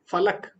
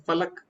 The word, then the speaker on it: फल: है व गलत उच्चारण लेकिन संस्कृत या हिंदी का उच्चारण फल फल जिसमें आपके दोनों होट मिल जाएंगे फल फल ठीक है